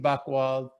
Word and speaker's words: Buchwald: Again, Buchwald is BUCH, even though it's spelled, it sounds like it has a K in it.